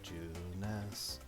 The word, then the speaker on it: Junes: is great at your juness drives me crazy that that's two syllables this place is Lively